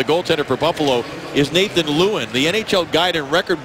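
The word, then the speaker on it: Lieuwen: pronunciation of the goaltender for Buffalo is Nathan Lewin. The NHL Guide and Record Book phonetically said it was Lewin, but I'm told that it is Lewin, so we want to get that correct and apologize for the misunderstanding.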